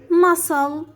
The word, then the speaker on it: muscle: c as scissors scissors muscle crescent and indiment so the c here is silent so when the e is followed by c we make the c silent and dress to pronounce